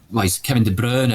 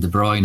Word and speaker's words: De Bruyne: Yeah, so like Kevin De Bruyne is the correct pronunciation of his Flemish, but the fans all go with Kevin De Bruyne because that then fits in with White Stripes, Seven Nation Army.